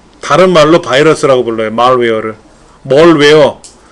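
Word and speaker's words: malware: 말웨어가 뭡니까? 말웨어? 이게 바이러스예요. 다른 말로 바이러스라고 불러요. 말웨어를. 멀웨어. 발음은 멀웨어 뭐 이렇게 하는데 그냥 우리말 발음식으로 말웨어라고 해요.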